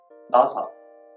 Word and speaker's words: 나사: Sixth, n, ni은, n, ni은, a, na, nasa, nasa, screw. So the word NASA is pronounced similar to the Americans NASA, but it has a